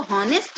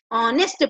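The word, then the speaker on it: honest: हम इसको क्या बोलेंगे, एन ऑनेस्ट पर्सन, क्योंकि इसको हॉनेस्ट नहीं ऑनेस्ट पढ़ेंगे, एस साइलेंट है।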